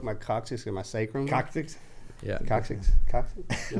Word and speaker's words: coccyx: Coccyx.